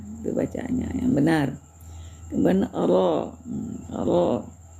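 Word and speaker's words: ر: Kemudian ro bacaannya harus tafk juga tebal ya.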